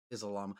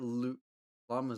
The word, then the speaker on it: llama: Oh no, the pinata is a llama. Oh, it's a llama. Llama. Un llama. I don't even know if I'm pretty sure that's how you say it in Spanish because the double L makes the Y.